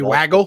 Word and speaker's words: waggle: to a second player, which is called a waggle or a woggle, depending upon how you pronounce it, but WAGGLE. If you should be waggle play actions. Yeah, it should be waggle, but I know some people say woggle.